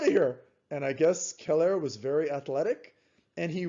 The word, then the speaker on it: Celer: an invader and then romulus's friend keller that's how you pronounce it c-e-l-e-r killed remus then he